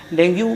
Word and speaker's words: dengue: डेंगू मुख्यतः basically क्या है, जैसे इसका प्रोनाउंसिएशन बेसिकली डेंगी होता है, हम लोग डेंगू बोलते हैं इसको।